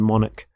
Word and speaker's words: monarch: current queen so monarch so the CH there makes the sound Manik the start of the